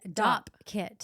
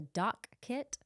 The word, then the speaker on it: Dopp kit: DOPP, dopp kit. Yeah. Did you know I thought it was a dock kit? I've always said dock kit.